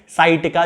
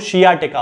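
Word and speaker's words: sciatica: शियाटिका का दर्द है यानी कि साइटिका, जिसे आप लोग साइटिका कहते हैं, वास्तव में उसका जो प्रोनाउंसिएशन होता है वो शियाटिका होता है क्योंकि शियाटिक नर्व से शियाटिका बनता है।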